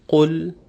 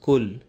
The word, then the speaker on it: قُلْ: In the first verse, we have to take care that the first letter is pronounced properly, and we say qul and not just kul. It's the deeper qaf, where the extreme back end of the tongue touches the palate in the back.